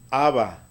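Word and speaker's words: אבא: final tenemos una al el aleph es muda la alef es muda entonces papá en hebreo se dice haba haba así 6 de papa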